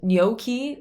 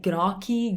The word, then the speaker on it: gnocchi: one i've heard but lots of people say graki garachi groche like i've heard everything okay in italian it's we have the gn i do have a video on that so basically it's like it's not quite an n it's like you know kids make fun of each other so